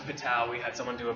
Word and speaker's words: Patau: 13 is Patau, which is pronounced Patau.